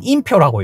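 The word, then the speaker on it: 林彪: 이쪽에서 3대 전역에서 큰 싸움이 나게 되는데 이 두 전역을 승리로 이끈 공산당 그 지휘관이 바로 림벼오입니다. 발음이 어렵네요. 우리는 임표라고 읽어요.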